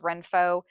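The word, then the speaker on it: Renpho: I think it's uh pronounced Renfo.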